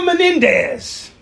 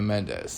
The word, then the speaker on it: Mendes: If Eva Menendez. Who is you mean Eva Mendes? Eva Mendes. You're just adding. I'm just adding an extra syllable extra to Mexican to it.